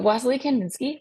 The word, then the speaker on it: Wassily Kandinsky: Lake Grove Elementary artlet uh wasley Kandinsky so wasley Kandinsky pronounced that way as on here wasley kandin ski